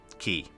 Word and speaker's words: quay: help me out here how to pronounce q u a y key it's candle keep key okay and then quayside would be keysight okay okay candle keep